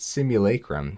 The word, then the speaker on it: simulacrum: this by the way it's like simulation but simulacrum so it's still going to take